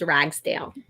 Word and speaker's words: Ragsdale: is to be like my last name's ragsdale rags dale yep and people like can you spell that for me and like it's exactly like it sounds rags r-a-g-s d-a-l-e ragsdale